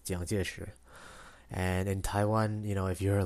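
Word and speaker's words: 蔣介石: Like, in Chinese, in Mandarin, his name is Jiang Jieshi.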